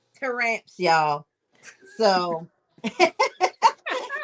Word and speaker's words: Taramps: Taramps. Taramps, y'all.